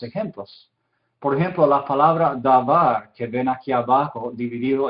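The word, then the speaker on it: דבר: Entonces, en la palabra davar que vimos, var, la segunda sílaba, es la sílaba tónica porque enfatizamos eso.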